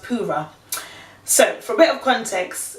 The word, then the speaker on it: Purah: man of the hour was a guy called pura so it's about P you are a H but it's pronounced para so for bit of context if we go